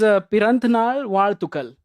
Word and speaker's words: Piranthanaal Vazhthukal: Uh another movie we have is Piranthnal Ward Tukal. Am I pronouncing it right?